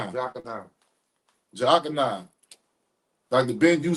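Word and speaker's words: Jochannan: He said, "How do y'all pronounce Dr. Ben last name?" It's Jakan. Jakan.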